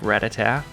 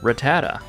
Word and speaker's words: Rattata: But if you're like me and you've been saying it like Rattata, well, you're wrong. It's actually Rattata.